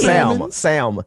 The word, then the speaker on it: salmon: Sam.